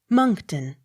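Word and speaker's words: Monckton: k t o n moncton accent on first syllable m o n s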